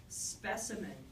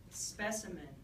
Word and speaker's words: specimen: Specimen, specimen, specimen has a very soft syllable in the middle. If you can't hear it very well, you probably hear it as two syllables. The spe and the men at the end, but you don't hear the s in the middle because it's very, very soft.